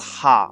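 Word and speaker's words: は: Yeah, it sounds weird, but it's the character is meant to be pronounced ha on its own, but in the sentence it's pronounced wa.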